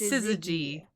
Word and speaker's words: Syzygy: You are so close, actually. It's Syzygy. Syzygy. Syzygy. I was pretty close. I just messed up the pronunciation of the G.